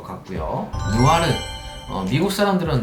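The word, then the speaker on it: noir: 누아르, 미국 사람들은 노이어 이렇게도 발음을 하는데, 정말 그 느와르 영화의 흑백의 좀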